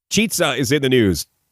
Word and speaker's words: Chizza: I would say chizza, like pizza.